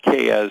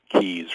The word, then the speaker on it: Keyes: People have a tendency to say Keyes. No, it's not Keyes, it's Keyes. Real simple, 2 syllables.